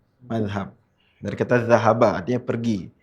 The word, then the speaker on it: mazhab: Dalam ejaan yang resmi di KBBI itu pakainya Z, tapi kalau di bahasa Arab sebetulnya pakainya zal. Mazhab.